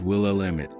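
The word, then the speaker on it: Willamette: Its name, pronounced will emit has survived missteps and misprononunciations, but still flows with quiet pride to the heart of the state.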